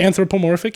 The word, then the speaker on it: anthropomorphic: Anthropomorphic, yeah.